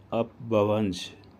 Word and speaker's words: اپبھرنش: زبان مانا جاتا ہے۔ اپبھرنش سنسکرت زبان کا لفظ ہے، جس کا تلفظ کچھ اس طرح ہے: اپبھونش۔ اپبھرنش زبان میں مرد